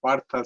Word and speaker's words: Partha: Oh, actually it's Partha, but sorry, some teacher pronounces Partha, so that's why. It's not changed my name, but It's so funny. Uh, I thought somebody else has written it, so I thought should I ask, should I not ask? But you yourself have put Partha, but pronunciation is Partha.